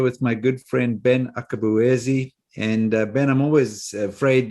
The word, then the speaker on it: Akabueze: My name is Brett Johnson, and I'm here with my good friend Ben Akabueze. And Ben, I'm always afraid that I've pronounced your name incorrectly because the Nigerians will probably laugh at me.